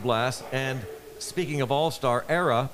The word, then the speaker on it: Era: And speaking of All-Star, Era, pronounced like Sarah, without the S, Katz, just like the business school.